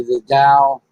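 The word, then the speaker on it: The Dalles: There was also one other branch that was commissioned in 1864 in, I must say, the Dow, Oregon. That's spelled Dalles.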